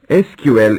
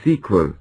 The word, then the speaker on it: SQL: functions manage multiple tables SQL introduction SQL is the abbreviation of structured query language it is pronounced as s q l or sequel it has become a